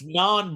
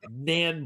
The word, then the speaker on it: naan: It's naan bread, not nan bread.